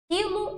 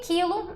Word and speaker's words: quilo: que o k certo esse U não é pronunciado mas o i o l e o o são Então eu tenho assim